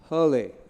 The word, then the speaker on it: Haerle: professor Haleh I pronounced it right perfect yeah he will tell